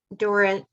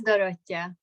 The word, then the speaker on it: Dorothea: Dorita. Can you say your name for me? Yes, it's Dorothea.